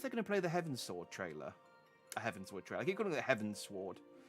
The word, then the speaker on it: Heavensward: It's like Heavensward, and it's like, okay, because we're going towards the heavens. It's like, no, it's pronounced Heavensward. Here you go, the Heavensward.